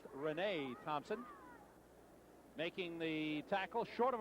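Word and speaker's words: Reyna Thompson: I have to apologize we were calling him Raina Thompson it's spelled re y na a it's pronounced Renee Thompson making the tackle short of a first down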